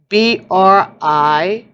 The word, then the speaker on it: Brisingamen: Okay, so that's how it's said in Norse. Brisingamen. So it's rising, amen, with a B in the beginning.